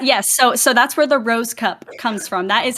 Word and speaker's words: Rohskopf: It's pronounced Rosecup. At least that's what my parents told me. So what? That's how you pronounce that? Yes. So that's where the Rosecup comes from.